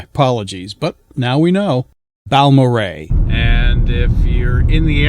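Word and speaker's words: Balmorhea: It's not pronounced as you see their names together, but rather as the name sounded. So, it's Baloray. My apologies, but now we know. Balmoray.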